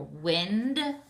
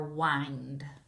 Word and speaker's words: wind: and wind which again these two words are spelled exactly the same but you can say them differently either wind or wind all right we're also